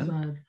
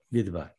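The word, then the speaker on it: מדבר: 미드바르. 여기 폐음절이라고 그랬습니다. 요 음절, 요 음절, 두 개 음절. 자, 그러면 여기서 액센트가 어디에 있어요? 요 미드바르에서. 바. 바르. 그렇죠. 바로 여기에 바르. 있겠죠. 바르. 맨 마지막 음절이니까 네.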